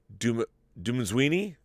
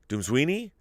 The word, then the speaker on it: Dumezweni: It's Dumenzwini, who played the lawyer Haley Fitzgerald. Wow, she was fantastic. She delivers, I think, my favorite performance of the year. Noma, and you spell that last name Dumezweni. Dumenzwini?